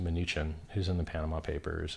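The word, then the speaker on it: Mnuchin: through his minion munchkin whose name I believe is accurately pronounced minuchin who's in the Panama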